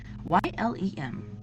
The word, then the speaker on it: Ylem: Ylem.